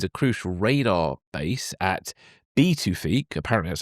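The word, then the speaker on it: Pituffik: The US already maintains a crucial radar base at B2ique. Apparently that's how you pronounce it. I double checked earlier. Um uh yeah, apparently the B uh the P is pronounced as a B.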